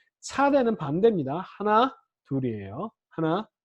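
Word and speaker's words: צ: 자, 그 다음에 요거는 이름은 제가 차대라고 해서 쌍지읒으로 썼지만 요것도 S 발음의 목구멍 소리, 목에서 나는 소리, 쩌! 이런 발음이에요. 쩌!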